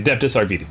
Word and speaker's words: Adeptus Arbites: Yeah, okay, Adeptus Arbites. Okay, good, I was pronouncing it right.